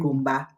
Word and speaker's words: Ngomba: So Mm-hmm, the right pronunciation is mm-hmm, Gomba.